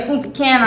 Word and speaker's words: Punta Cana: in Punta Cana apparently I've been seeing the Punta Cana all the time everybody's been trying to correct